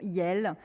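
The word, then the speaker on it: iel: néologismes dits neutres comme le pronom non binaire se prononce yelle censé remplacer à la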